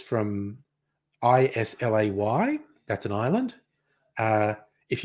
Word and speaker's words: Islay: yes it's a yeah Scottish Gaelic word which is why it's not pronounced the English way is lay it's Isla yes I